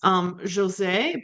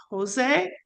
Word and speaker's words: José: That and what else is interesting is José, because in Spanish it's Jose, very different. And I think that's a common mistake that people make. Exactly.